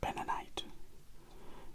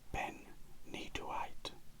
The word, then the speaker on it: benitoite: Now, bentonite, it's actually pronounced slightly different to how I'm pronouncing it, but I can never get it's actually benitoite. That's how I believe you pronounce it, but bentonite is simpler for me to say it.